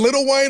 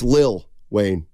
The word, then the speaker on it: Lil Wayne: And Little Wayne on Fridays. I think it's Lil Wayne. What'd I say? Little. I thought you had your ear to the streets. I think that's the way it's pronounced.